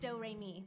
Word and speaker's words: Doremi: name is doremi midorikawa it's spelled like notes and pronounced doremi it's one of those